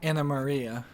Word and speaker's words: Anna Maria: let just talk to an Marie Anna Maria can you spare a moment what do you need George Anna Maria not an Marie I've been pronouncing it wrong all right so if